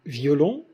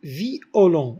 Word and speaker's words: violon: Deux voyelles تنطقهم كل وحدة بوحدها. مثلا violon, on dit violon ou bien violon.